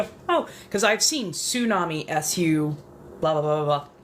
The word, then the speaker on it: tsunami: It's not tsunami as in su, it's tsunami as in tsu.